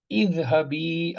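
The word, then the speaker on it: اذهبي: Now here I said izhabi, I'm pronouncing i. Here I'm just being silent on this hamza. Warji'i, I'm not pronouncing any hamzat al-wasl. Obviously then this hamzat al-wasl is coming in the beginning of the sentence. Here it is coming between the two words. Hence it is not being pronounced.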